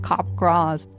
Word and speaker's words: Capgras: Pronounced like Capgras.